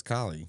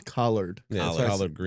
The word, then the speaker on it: collard greens: say she she always corrects me no it's collie no it's collared greens that's what I used to say and she's